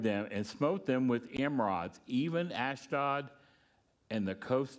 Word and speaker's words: emerods: So, but we're going to see in a little bit that they're going to give gold tumors or emerods, say it right, emerods and rats.